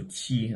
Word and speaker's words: qi: Of course, there are differences with Chinese pronunciation and English pronunciation, but a Q is a Q, so qi, like QI, although it's pronounced qi, like for air, Q is Q.